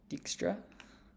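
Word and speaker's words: Dijkstra: the simplest case of dexra yeah also I know I'm pronouncing Textra wrong it's just that's how my friends pronounce it yeah yeah yeah okay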